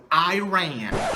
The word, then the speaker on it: Iran: Bangladesh, and even the country you hate the most, you know, Iran, which is, by the way, it's pronounced Iran, but okay.